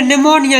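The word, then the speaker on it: pneumonia: पी का silent N तथा एस से पहले। ठीक है? जैसे निमोनिया लिखो पी से हुआ शुरू।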